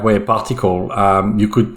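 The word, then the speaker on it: PartiQL: you you pronounce the the right way a particle um you could pronounce it party ql or some other other part but the way to pronounce it correctly is particle yes that's correct and it seems like aws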